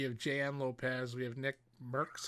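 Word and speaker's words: NickMercs: jan lopez we have nick merks that's how you say his name yeah i'd say nick marks yeah tim the tatman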